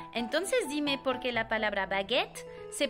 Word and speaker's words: baguette: de pronunciarse e pero si sigue después una doble consonante como es el caso en baguette el sonido de la e se cambia por el sonido e entonces no es bagut es baguet tenemos igual